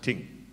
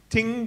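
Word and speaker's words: Tyng: associate of dudley atkins tink t-y-n-g i think you pronounce it ting who had recently been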